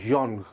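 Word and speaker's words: genre: इसको गौर से सुनिए, फ्रेंच का वर्ड है जॉन्ग, GNRE। इसको जॉनर भी पढ़ते हैं इंग्लिश में।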